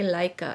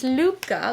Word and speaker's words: Luca: case I chose now I never knew how to say this I used to say say Leica it's Luca Luca is a Danish word I wrote down what it means it's it means a life of Joy through connection slow pace